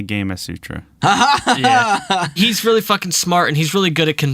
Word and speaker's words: Gamasutra: it that I used I said gamma Sutra I thought it was gas Sutra like Kamas Sutra but it is apparently gam Sutra yeah he's really [